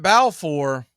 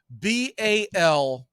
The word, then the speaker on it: Balfour: Balfour. He pronounces it Balfour for good reasons if you're going to be a pitcher, but it is spelled as Balfour.